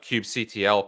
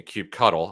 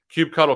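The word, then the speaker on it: kubectl: we're going to be able to run a cube CTL commands excuse me Cube cuddle I've been uh informed that that is the official pronunciation Cube cuddle commands uh against the cluster that we created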